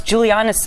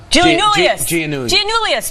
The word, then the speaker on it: Giannoulis: Just as we started to pronounce Giuliani's, see, I still can't do it. Giannoulis. Just as soon as we